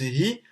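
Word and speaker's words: הוא: Donc finalement, dans ce mot-là, dans ce mot hi, qui s'écrit hu, mais en fait qui se prononce hi, donc qui s'écrit il,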